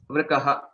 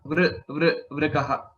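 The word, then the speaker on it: वृकः: Vrikaha. Vrikaha. Okay, that is the pronunciation.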